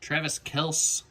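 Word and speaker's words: Travis Kelce: another naji harris nice travis kels saw in a video that that's actually how he pronounces the name play really need to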